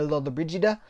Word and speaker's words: Lollobrigida: he did with Gina Lollobrigida. So much controversy about how you pronounce Gina Lollobrigida's name. I like to say Gina Lollobrigida, but apparently it's hotly debated because there's the Midwestern pronunciation, which is Lollobrigida.